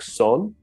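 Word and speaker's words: Seon: just Chon in China in Korea the term is pronounced Something Like Son uh in Vietnam it's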